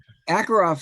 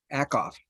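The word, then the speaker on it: Ackoff: it absolutely does yes akoff dr akov i keep trying to put an extra syllable a mind phenomenon not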